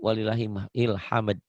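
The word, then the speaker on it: ولله الحمد: Kadang-kadang yang lucu, bukan walillahil hamd, walillah ilham. Ilham gak ada artinya. Padahal walillah dan untuk Allah hamdu segala puji. Walillahil hamd. Gitu harusnya ya.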